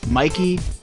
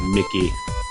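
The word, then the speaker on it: Mikie: I would pronounce that Mickey. It's Mikey. That's how I spelled it. It's Mikey, damn it.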